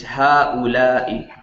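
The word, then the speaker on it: هؤلاء: You want me to pronounce it or? Okay, it's ha'ula'i.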